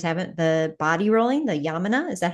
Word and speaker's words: Yamuna: of our listeners haven't, the body rolling, the Yamuna, is that how you say it? Yeah, it's Yamuna body rolling.